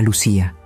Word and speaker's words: Lucía: Mi nombre era Lucía, con acento en la I, pero en el sistema era solo un nombre tachado, una identidad cancelada, una mujer muerta.